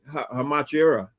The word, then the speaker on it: Hachimura: People were talking about the Lakers because they traded for that Rui Hachimura. I forgot. I can't pronounce his name.